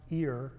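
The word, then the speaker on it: עיר: In Hebrew, the word I yr in English, which is pronounced ear, like the English ear, uh, which is translated in our English Bibles as city, means a sentiment, uh, surrounded by a fortified wall.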